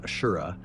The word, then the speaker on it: Asura: It was mentioned that Asura, pronounced Ashura, is a nod to Sleipnir, the gigantic horse of Norse mythology.